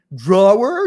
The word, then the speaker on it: drawer: And she's like, drawer? You really say that? I was like, well, we really don't say it, but it's spelled drawer.